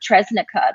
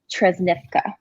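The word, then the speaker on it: Trešnjevka: A lot of the young women that play for Tresnica, the club, Tresnivka is the correct way to say it. They corrected me when I would say it that way.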